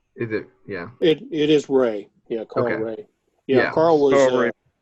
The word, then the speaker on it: Ray: That is, I don't know how you pronounce that last name. Yeah, I just, is it, yeah. It is Ray.